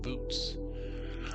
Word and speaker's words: Boötes: And what the saying is, we're gonna arc to Arcturus, and that's gonna take us to the constellation Bootes. Yes, that's exactly how it's pronounced, Bootes.